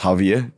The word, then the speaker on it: Javier: So my name actually is pronounced as Javier. Yeah I thinkated. Yeah. So the actual pronunciation for my name is Javier.